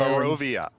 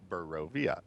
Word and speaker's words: Barovia: Barovia. Barovia. Hold on, I got to do my Homer Simpson. Barovia. It's pronounced Barovia.